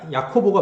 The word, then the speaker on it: 야고보: 야고보가 그 실제로 헬라어 발음은 약간 야코보가 맞아요.